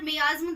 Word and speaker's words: miasm: ये वीडियो का जो मेन टॉपिक है, इसके अंदर हम माइज्म को समझने वाले हैं। माइज्म बोलो या फिर मियाज्म, दोनों ही वर्ड ठीक है, प्रोनाउंसिएशन आप किसी भी तरीके से बोल सकते हैं इसको।